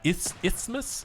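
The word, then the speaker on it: isthmus: ismus I I don't I feel like that that s and t in there is silent right let just ismos ismus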